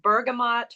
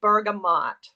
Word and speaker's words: bergamot: it's not in our regular line it's called bergamont mint and I actually I've heard it pronounced Bergamo and bergamont so I went to